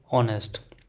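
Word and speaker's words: honest: ओ यू लेट see also before silent as words like a honour are ऑनेस्ट वी कैन say example देख लेते हैं दोस्तों।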